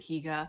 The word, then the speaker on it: hygge: talking about hygge versus higa um the hygge um so people do pronounce it higa i wasn't crazy because